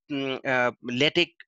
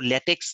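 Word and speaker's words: LaTeX: Writing এর বিষয়ে আমরা ল্যাটেক উচ্চারণ কিন্তু ল্যাটেক্স নয়, ল্যাটেক অথবা টেক উচ্চারণ বলে, অথবা MS ওয়ার্ডে লিখি, কিন্তু বেস্ট হচ্ছে ল্যাটেকে করা।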